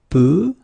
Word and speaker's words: peu: Peu, bleu, feu. Okay, so this sound is e, e.